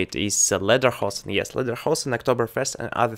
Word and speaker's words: Lederhosen: I was remembering it when I was reading Wikipedia page about Lederhosen, or how to say it is Lederhosen.